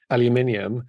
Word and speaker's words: aluminium: a word in English so in British English because we actually do spell it with the extra I in so we say aluminium oh that makes sense I always wondered about that because there phonetically if you look at it it's like why are they saying they're adding an extra syllable in there but if you spell it differently then that would make sense okay yeah I love